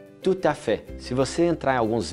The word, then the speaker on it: tout à fait: inteiro onde que se fala francês que é tuta fé se você entrar em alguns vídeos você vê constantemente pessoas falando tuta fé eu tenho essa prática eu aprendi em Genebra